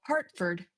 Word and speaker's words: Hertford: You take the same city called Hartford in the UK, and for them to spell it correctly is Hertford. It's still Hartford, Hert.